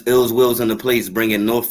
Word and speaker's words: iLLzWiLLz: It's iLLzWiLLz. Yes, so it's iLLzWiLLz Watu'z, and that's ill will with 2 Z's, and it's spelled iLLzWiLLz, WILLZ.